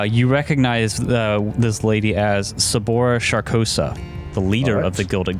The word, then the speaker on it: Sabora Sharkosa: easier right uh you recognize this lady as sabora sharkosa the leader of the Gilded Gunners one of the can you spell that name s-a-b-o-r-a and then last name sharkosa s-h-a-r-k-o-s-a shabora sharkosa sabora sharkosa yeah she has this like bright gold pistol